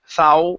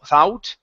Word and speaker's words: thought: the word thought first instead of saying thou thought okay it's only ath thought Grandma thought Grandma thought